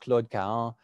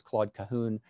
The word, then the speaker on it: Claude Cahun: In French, really, the name should be pronounced Claude Cahun, but most English speakers, especially in the United States that I know tend to pronounce Claude Cahun. I may switch back and forth, but I'll try to say Claude Cahun in my talk tonight.